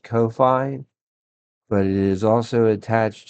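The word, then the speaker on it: Ko-fi: Uh, I believe it's pronounced Kofi, but it is also attached to another thing called buy me a coffee.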